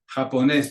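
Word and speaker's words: japonés: different rules of pronunciation japones because it ends in an S but the accent the emphasis on that last syllable requires an accent on that e to make it happen s but because we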